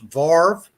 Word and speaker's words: varve: are in the u.s may have heard this word pronounced varve and the green river